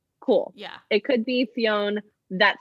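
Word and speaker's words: Fionn: and his name was high king finn i'm saying finn it's spelled f-i-o-n-n cool yeah it could be fiona that sounds stupid so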